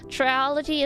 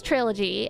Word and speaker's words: trilogy: brain that I only learned after Vubing aren't pronounced how I say them. Triology is one of them. Uh, triology, which I know is trilogy, and I can say trilogy, but my brain rejects it.